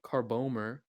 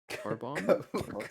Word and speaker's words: carbomer: It also contains benzophenone 4, blue 1, carbomer. Carbomber? Carbomber, no way. No. No, wait. Oh, no. It's not Carbomber, I promise. It's spelled no. Carbomer.